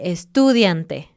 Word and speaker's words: estudiante: Por ejemplo, decir estudiante o algo así. O estudiante. Ajá. Cuando no haya nada, siempre pone el énfasis en una sílaba antes del final.